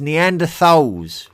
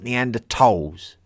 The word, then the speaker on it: Neanderthals: It is Neanderthals with a th and not neander toss.